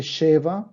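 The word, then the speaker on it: שבע: El siete se dice sheva para el femenino y para el masculino shiva.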